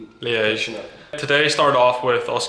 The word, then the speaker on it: Liège: Liège? Liège.